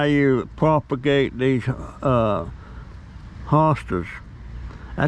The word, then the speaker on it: hosta: you propagate these uh hostas i spell h-o-s-t-a i was pronouncing it hostess but lisa sent me things said it's hot hostas hosta um but all kind